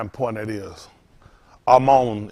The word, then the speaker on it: Amon: Amon is how you pronounce this one. Amon, mon. Y'all see Amon. We say Aman. So that's how careful you got to be with things.